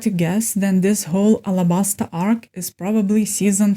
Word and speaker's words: Alabasta: On a more fun note, it was funny how Luffy once again mispronounced something when he said Arrabbiata instead of Alabasta.